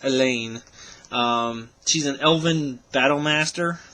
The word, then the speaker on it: Alleyne: the Revoltech Queens blade Elaine or Aileen I'm not sure exactly none see agent even though I just finished watching this series I really don't say her name that much I believe it's Elaine she's an elven battle